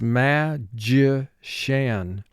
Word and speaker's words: magician: party now for spelling pronounce this ma ji shan ma two sounds um ah ji two sounds ja e shan three sounds magician extension extension i bought